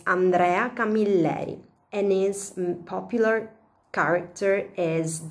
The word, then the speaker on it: Andrea Camilleri: Maybe yes, or maybe you pronounce the word in a different way. Andrea Camilleri or something similar. I'm just kidding you. In any case, the right pronunciation is Andrea Camilleri, and his popular character is the Inspector Montalbano.